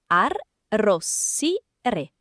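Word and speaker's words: arrossire: Syllabes : Ar Rossire. Rougir. Presque. Le double « s » est fort.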